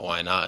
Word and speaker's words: Minott: One, it's like, you know, why not? And then two, it's like it's an easy way to remember how to pronounce my last name.